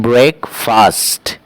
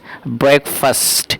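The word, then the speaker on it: breakfast: बहुत से लोग इसका प्रोनाउंसिएशन करते हैं ब्रेकफास्ट, बट the correct pronunciation is ब्रेकफास्ट। तो आपको ब्रेकफास्ट पढ़ना है।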